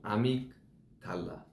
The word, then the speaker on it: amygdala: Nó đọc là "AMYGDALA".